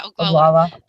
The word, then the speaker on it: Oglala: Yeah, Oglala.